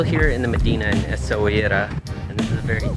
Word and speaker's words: Essaouira: Let's do a quick room tour of the Air Blue Palace in Essaouira.